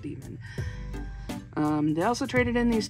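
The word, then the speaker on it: Daemon: The A-E, when they're put together, is also what is what Demon used to be pronounced as, was A-E. And so I've seen plenty of people be like, Damon! It's like, no, it's actually pronounced Demon.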